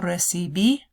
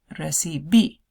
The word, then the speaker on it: recibí: No recibí una carta anteayer. O sí recibí una carta anteayer. Recibí. Accent on the last I of that. Recibí.